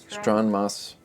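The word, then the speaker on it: Stronmaus: Stronmos.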